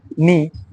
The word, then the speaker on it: know: KNG তে কিছু word আছে, এখানে কে সাইলেন্ট থাকে দেখি, যেমন নি, নি, এন, KN নি, নির উচ্চারণ, এটা উচ্চারণ করো তোমরা, KNE এটা উচ্চারণ করো, এটা উচ্চারণ করলে নি উচ্চারণটা আসবে।